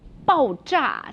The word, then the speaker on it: 爆炸: 爆炸. So it sounds like bang, right?